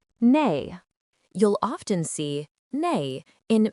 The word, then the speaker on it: 内: Its pronunciation is nay.